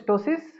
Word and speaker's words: ptosis: What is ptosis? P is silent. What is ptosis? परत सन्नाटा. What is ptosis? अरे पोरांनो, सेकंड इयरची पोरं तुम्ही, व्हॉट इज टोसिस बोला रे कोणीतरी, पटपट पटपट.